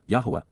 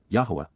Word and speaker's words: Yahowah: For how long, Adma, until when will the eternal witness and restoring testimony of Yahwa, Yahwa, the proper pronunciation of the name of Aloah, God, as